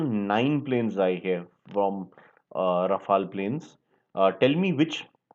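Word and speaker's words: Rafale: T which country is Rafal originally from it's pronounced as Rafal the way it's not rafhael as you know it's not a e l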